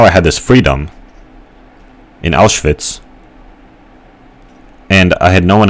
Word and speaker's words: Auschwitz: and all my teachers couldn't pronounce Auschwitz. Instead, they pronounced it Auschwitz. And I thought that was really dumb. Auschwitz. Auschwitz. That's not how you pronounce it, dude.